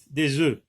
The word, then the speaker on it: œufs: Attention, on ne prononce pas le F lorsque c'est pluriel. Un œuf, des œufs.